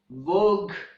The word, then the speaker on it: vogue: And at the end, we have the words vogue, rogue, and tongue. In these words, the letter U is also silent.